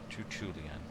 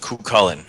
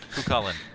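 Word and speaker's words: Cú Chulainn: My demonic father is Tutulian. Okay. All right. So now. And if we're going to be using that a lot, guys, it's pronounced Cucullin. Cucullin.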